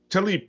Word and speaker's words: Tlaib: Tlaib, that's it.